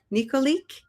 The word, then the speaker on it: Nikolic: I'm Melissa Keenan, and I have with me today Sandra Nikolic.